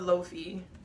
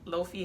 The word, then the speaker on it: lo-fi: but we could be i love loafie i don't even know if i say it right low fee hip hop lo-fi hip-hop low-fee it's lofi okay all right by the